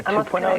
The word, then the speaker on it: 2.0: And you worked with 2.0, Matt. Yeah. 2.0.